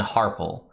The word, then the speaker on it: Harpell: The Harpells, or Harpells, depending on how you pronounce it. I always go with Harpell because that's what Victor Bavine does in all the Drizzt books.